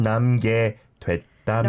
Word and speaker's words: 남게 됐다면: 둘만 남게 됐다면. No, it's not 남게. It's 남게 됐다면. Okay, so the pronunciation slightly different to the way it's spelled, right?